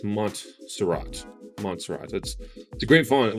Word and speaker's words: Montserrat: I always used to say Monsterot, but it's Montserrat.